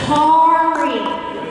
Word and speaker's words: Kari: everybody say Ki Cari can everybody say Ki Ferrari Ki Ferrari spread the word tell your friends it's Cari car like Ferrari so yes Miss mispronounced